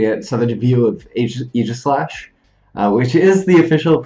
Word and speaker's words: Aegislash: In my mind, we had such a view of Aegislash. Which is the official pronunciation. It's kind of weird, but it's Aegislash.